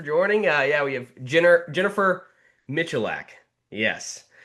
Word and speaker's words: Michalak: It's Michalak. It's Polish. Michalak. Well, Google failed me, and that's okay. But yeah, thank you so much for joining. Yeah, we have Jennifer Michalak.